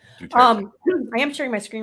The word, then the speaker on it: Duterte: Duarte. It is Duarte? I believe it's Duarte. Duterte. Oh yeah. Duterte.